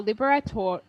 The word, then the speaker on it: Libertador: this 19th century Latin American leader was posthumously nicknamed a libertador.